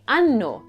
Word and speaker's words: anno: A simple oversight of not doubling that N sound can turn an innocent conversation about your age into a discussion about posterior anatomy.